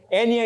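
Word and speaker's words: eñe: Enya is how you say it, of course, but it's the tilde.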